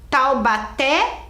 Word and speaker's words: Taubaté: que nós vimos lá Taubaté é o última era forte Lúcia era a primeira mas eu quero saber a última olha aqui tau Baté Qual que é a sílaba mais forte é o té né olha lá é